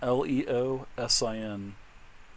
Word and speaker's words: Leosin: Uh his master is Leosen. Leosen. Okay. Leosen. L E O S I N or Lor. Leoen. Yep. Leosen. Leosen. There could be many ways to pronunciate that, but let's go with a leosin.